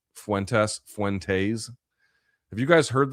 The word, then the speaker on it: Fuentes: Fuentes. There's no it's not t a ys I don't I don't you know it's not faint you know what I mean it's fuentes fu ness n test